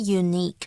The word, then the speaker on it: unique: They're really special.Unique, OK, 注意它的重音哦。OK, 不要念成另外一个字哦，反正就是 unique, OK, 重音在第二个音节，因为我常听到有人会乱念这个字哦。它是指特别的啦，甚至于在口语上还有极好的意思哦，它是一个形容词。比方像是如果我们提到 his talents make him truly unique，就是因为他很多的才华让他就是变得非常的与众不同，很特别。或者呢 I'd recognize your handwriting anywhere, it's unique，